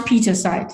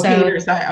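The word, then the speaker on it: Pietersite: Yes, but it's pronounced Petersite. Oh, Petersite. Okay, I was putting an extra syllable in it.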